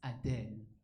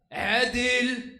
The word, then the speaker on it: Adil: But in Arabic, my name is not pronounced Adele. It's actually pronounced Adil.